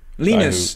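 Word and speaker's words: Linus: what is his name lonus tals or the lenus is actually pronounce it I'm told um I I don't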